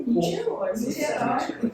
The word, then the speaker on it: Niterói: É Niterói. Nicterói, né? Nicterói é a maneira antiga, agora só escrevo assim.